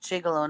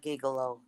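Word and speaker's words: gigolo: David is pronounced jigalo, not gigalo. Actually, Louie Primma calls it gigalo.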